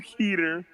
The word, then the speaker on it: Keter: Well, I'd say Keter because that's what's become acceptable on the SCP Wiki, but it could be Keter. Not acceptable. Not acceptable. It's plenty acceptable. No, wrong. So Euclid, Keter, Thaumiel.